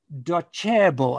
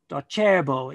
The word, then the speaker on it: Docebo: At the moment for 2020, Docebo, I believe it's pronounced, it's a cha, cha sound. Docebo is apparently, according to e-learning industry website, is the number one.